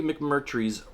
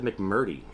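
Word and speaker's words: McMurtry: I always say his last name wrong. And let's just take a quick little look at the synopsis. Hopefully, it is back here. A love story, adventure, and an epic. See, an epic story of the frontier. That's exactly what I was interested in when I bought this last year. Larry Mc Merry's, See, I did say it wrong before. I said McMurdy. It's Mc Merry.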